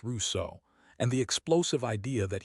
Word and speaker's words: Rousseau: Next time, Jean-Jacques Rousseau, pronounced Rousseau, and the explosive idea that human beings are naturally good, and it is civilization itself that ruined us.